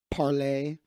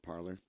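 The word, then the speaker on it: Parler: got hacked you know this was actually supposed to be pronounced parlay but no one knows that so everybody calls it parlor looks like leftists fell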